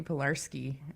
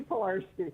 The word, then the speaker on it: Pilarski: Pilarski on the show with us. Am I saying your last name correctly? Absolutely. Oh, great. That's Pilarski.